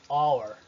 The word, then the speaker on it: hour: Olha só, os casos sem pronúncia ocorrem antes de E ou O. Honest, honor ou hour. Hour.